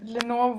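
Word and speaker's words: Lenore: the lyrical eye um Lenor rhymes with ever more and never more as it seems like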